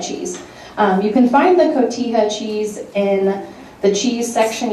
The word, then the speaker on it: cotija: It's called cotija cheese.